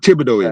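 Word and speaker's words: Thibodaux: Uh uh I mean uh town it's called Tibido. It's spelled t h i b. It's French.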